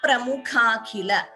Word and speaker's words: प्रमुखाखिल: Here, there is a Dvitvam also. Mukha Pramukhakhila. Mukhapra. You see that stress before P, an extra P is heard. So Dvitvam. Panchamukha Pramukhakhila. Please note that pronunciation.